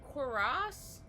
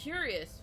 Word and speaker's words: cuirass: Oh, that's how you say that. Cuirass? I've always called it a curious for some reason.